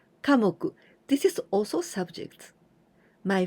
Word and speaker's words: 科目: Here we use the kanji of me, but we pronounce moku. 科目.